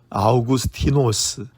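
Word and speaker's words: Αὐγουστῖνος: 헬라어로는 아우구스티노스, 라틴어로는 아우구스티누스라고 읽습니다.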